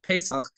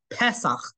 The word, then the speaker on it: Pesach: But technically, if you look at the Bible, it's not called Pesach. It's actually called Pesach with a segol under the initial pe.